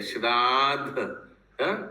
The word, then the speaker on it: श्राद्ध: श्राद्ध ठीक बोल रहे हो क्या उच्चारण एस आर ए उ के ऊपर सफिक्स दिया है डीडी ए के ऊपर श्राद्ध श्राद्ध है प्रभु ये दोनों एक